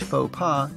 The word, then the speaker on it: faux pas: Do not try to pronounce English faux pas with a French accent, unless you are French.